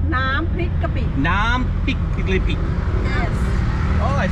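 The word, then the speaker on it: น้ำพริกกะปิ: Nam pik kapi.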